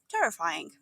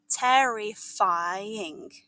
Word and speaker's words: terrifying: A dragon is described as terrifying, but might not be for the reason you think. Pronounce it slowly. Terrifying. Listen for the rhythm in the 4-syllable word.